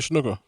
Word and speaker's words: Snuka: Jimmy Snuka. Cool. Jimmy Superfly Snuka or whatever.